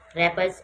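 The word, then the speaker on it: wrappers: Don't throw रैपर्स ऑन the road, रैपर्स का डब्ल्यू जो है ये साइलेंट है।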